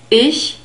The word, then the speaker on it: ich: cold ish hi sir ish is the word for I and we have a short e sound here there's also a special sign in the script ish e naught e e ish and we have a grouped consonant here it's the soft CH sound this is the